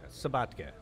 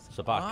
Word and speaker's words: Sobotka: Is that how you pronounce it? Yeah, Sobotka. Sobotka.